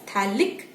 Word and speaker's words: phthalic: This is example of a dicarboxylic acid of aromatic type, phthalic acid. Remember, pH is silent and you just call it as phthalic acid, where you have two